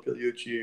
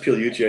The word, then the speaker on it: Pigliucci: Ferriss is podcast yeah I think it's pronounced Pigliucci I think the G is silent but yeah yeah it's